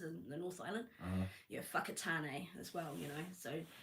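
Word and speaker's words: Whakatāne: It's When you look at a w h, nobody thinks, "Oh, that's going to come out as an f."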